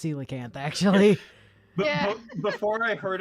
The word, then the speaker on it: coelacanth: pronounced felicanth yeah yeah I used to however pronounce a koala Camp yeah my dad tried to do that the other day to pronounce that word yeah and try to pronounce it like koala cat that I was like no that's it's pronounced